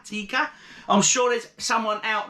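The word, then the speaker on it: Teika: This is 5%, and it's a Latvian lager, and it's called Aldaris Premium Lager Tika, not as in chicken tikka, but T-E-I-K-A, Tika.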